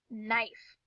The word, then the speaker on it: knife: this is the word knife and what do you know what do you see that tricky k and n so we know when we see k and n together that that k is silent i wonder if there